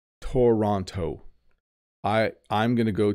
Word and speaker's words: Toronto: know how to pronounce this you might say Toronto I I'm going to go to Toronto but we actually say Toronto Toronto Toronto so you notice that the second T does